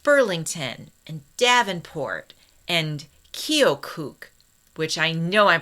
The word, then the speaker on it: Keokuk: And along the great river towns in places like Burlington and Davenport and Keokuk, which I know I'm pronouncing wrong, and Sioux City. That town is Keokuk.